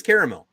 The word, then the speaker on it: caramel: time in my life you can't pronounce it caramel because there's an a after the r and you think I